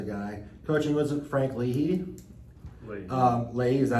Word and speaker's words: Leahy: Leahy, is that how you say it?